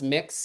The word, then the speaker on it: Mx: Um, and then MX is just pronounced mix and it's a non-gendered way of saying Mr.